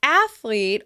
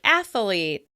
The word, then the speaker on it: athlete: The word "athlete" often gets an extra "a" in the middle and sounds like "athalete.".